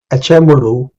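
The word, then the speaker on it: Acemoğlu: So uh uh these two gentlemen uh Darren uh Amuru and uh G is silent in his name. is a Turkish name and James Robinson wrote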